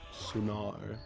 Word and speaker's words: Sunnard: It is pronounced Sunnard, as they made it apparent yesterday, because we were having a debate on how to pronounce it.